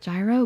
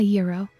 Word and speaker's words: gyro: People think it might be pronounced gyro, but it's a euro.